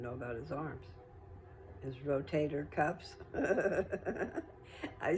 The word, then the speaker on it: rotator cuff: I was saying it wrong. My brother finally told me the right way to say it. So, rotator cuff.